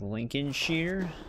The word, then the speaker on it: Lincolnshire: pronounce it like Lincolnshire. I I always thought they just said Shire cuz that's how they say it in the game.